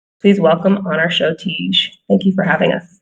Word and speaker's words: Teege: And Teege is, am I saying that right?